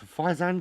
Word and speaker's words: Faizan: Xeno from kaizan uh it's faizan kaizan it Rhymes um slipstream and tech